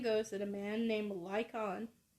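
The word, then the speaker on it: Lycaon: that a man named lykon i think that's how you say it like him liken it's l-y-c-a-o-n yeah like it liken angered zeus when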